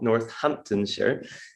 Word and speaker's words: Northamptonshire: in the nhs that the university hospitals of northamptonshire is how we pronounce it and i had a presentation which